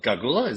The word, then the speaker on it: Gargula: Gargula, did I pronounce that right? Yeah, you got it Kind of reminds me of the Gulag.